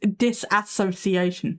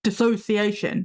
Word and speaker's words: dissociation: And one that gets me, a misprononunciation that gets me is disassociation. No, it's dissociation. There's no ass in the word.